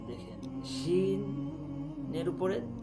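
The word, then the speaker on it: شين: জিহ্বার মধ্যখানটা উপরে তালুর সাথে লাগিয়ে শিন উচ্চারণ করা হয়, শিন।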